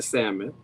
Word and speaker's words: salmon: I noticed was girl we do not pronounce the L in Salmon like